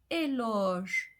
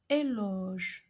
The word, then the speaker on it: éloge: First, when followed by the sound G, like in the word éloge. So we have an open O, éloge, which means praise, or horloge, horloge, which means clock.